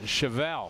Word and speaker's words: Chevelle: Chevelle is pronounced Chevelle. Chevelle. Like the car.